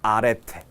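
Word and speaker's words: ἀρετή: 뭐라고 읽는다고요? 아레테.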